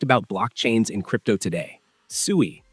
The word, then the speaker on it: Sui: Suie, pronounced SUI, is a layer 1 blockchain built from